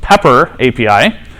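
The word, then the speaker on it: PPAPI: Some people pronounce it salt, especially since it uses the PP API, also pronounced pepper API.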